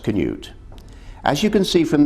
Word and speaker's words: Cnut: across the river lily the spelling cnut is scandinavian and it is pronounced canute as you can see